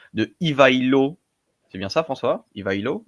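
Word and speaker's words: Ивайло: soir on va parler de pardonnez-moi pour la prononciation de ivailo c'est bien ça François ivailo oui ivailo le Bulgare fondateur à priori du 2è empire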